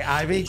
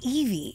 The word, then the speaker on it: Ivy: It's Evie, but it's okay. What'd I say, Ivy?